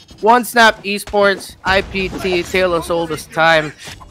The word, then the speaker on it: Onesnap Esports: Man, people pronounce it as 1SE, but I swear I'm pretty sure that that's pronounced as Onesnap Esports, IPT, Tale of Oldest Time.